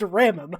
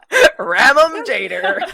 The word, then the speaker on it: Remem: Don't wear it Okay, that is pronounced Ramum. I don't care what you say. Ramum Jader.